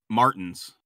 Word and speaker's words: Martins: You guys pull up to Martin's. I think it's pronounced Martins. Yep, that's right.